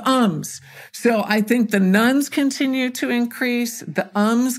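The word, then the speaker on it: nones: you know we hear about the nuns n o NES not nuu NS I always feel like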